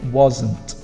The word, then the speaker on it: wasn't: First, you need to say wasn't. That's how we pronounce this word. But also, it's a stronger sound on the was than it is in the positive.